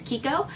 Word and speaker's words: Chicco: It looks like it says Chicco, but the actual correct pronunciation is Chicco.